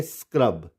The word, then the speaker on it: scrub: SCAN, इसको हम क्या पढ़ेंगे? स्कैन। यहाँ पे सी साइलेंट नहीं होगा। इसी तरह से SCRUB, तो इसको हम पढ़ेंगे स्क्रब, यहाँ पे भी सी साइलेंट नहीं होगा।